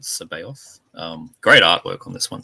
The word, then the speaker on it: Sabaoth: The Unpronounceable Colton with Haxon Sabaoth, not Sabbath, but Sabaoth.